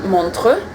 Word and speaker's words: Montreux: so we're heading to montre is the correct FR Swiss pronunciation and we are changing